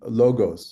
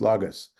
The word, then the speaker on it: logos: here in the Greek you may know as logos or as they pronounce it in Hill Country textas logus and and um and